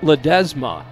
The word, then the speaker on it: Ledesma: option destroys the timing it's pronounced Ledezma I just heard from his father Ricardo Ledesma ledesma says but